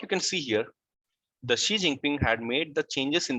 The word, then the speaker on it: Xi Jinping: Okay, what you can see here, the Xi Jinping had made the changes in the constitution, in the Chinese constitution, which would allow him to continue as president of China indefinitely.